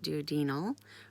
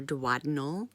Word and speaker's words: duodenal: It's called, so there's 2 ways to pronounce it, duodenal or duodenal switch.